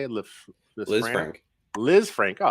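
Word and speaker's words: Lisfranc: Liz Frank.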